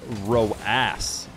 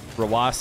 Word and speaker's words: Rawas: They were like, I like how everybody in in the Twitch chat was calling him Roass. Roass. And what I'm not sure is if that person didn't realize that Rawas is like, that's how you spell it, like that's his name.